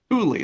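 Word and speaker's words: Tule: Thule, that's how you say it.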